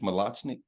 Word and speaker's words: Mlachnik: I know it's 2023 am I pronouncing your name correctly like coach malachnik yep no that's correct man you got it down yeah I know that